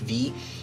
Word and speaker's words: vis: are nodes in the form of it's called V and you hit yes it's spelled vis but it's usually pronounced vee or visa anyway if you right click on